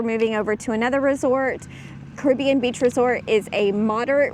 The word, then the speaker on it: Caribbean: I say Caribbean. Caribbean. It's Caribbean. Oh, there goes. Hello. Hello. So we have one night here, and then actually we're moving over to another resort. Caribbean Beach Resort is a moderate resort here at